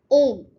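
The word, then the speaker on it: homme: And yeah, in French, the letter H. So the letter H is mostly silent.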